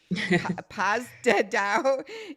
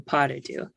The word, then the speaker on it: pas de deux: So the first one's a French little phrase, and Folies, Deux, and then pas de deux.